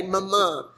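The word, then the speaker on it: Mumu: And Lace, Stephanie's oldest child, is the one that spells it the way it's spelled, M-U-M-U, like a moo-moo, but she would say Mama.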